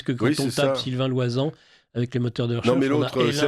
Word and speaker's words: Loisant: Donc Loisan, Sylvain, tout le monde sait comment ça s'écrit. Loisan, le nom L-O-I-S-A-N-T.